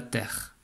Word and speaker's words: terre: Parce qu'on ne dit pas la terre E, on dit la terre.